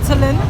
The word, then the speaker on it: Cholon: Comment dire, on marche depuis un petit moment sur le quartier de Cholon, on prononce Tsolon, à la recherche d'un coin un peu sympa et atypique.